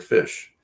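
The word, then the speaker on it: ghoti: the gh sound and enough is pronounced like an f and the o in women makes the short i sound and the t ion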